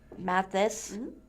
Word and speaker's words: Matthysse: According to according and city city clerk an Anita Carter Matthysse Matthysse is seeking a ballot measure to